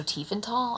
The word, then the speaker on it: Tiefenthal: And I heard just today, that the TH is pronounced as a T, so Tiefenthal?